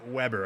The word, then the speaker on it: Weber: So it is Weber. Okay, that's what I have to remember. It's not what it looks like.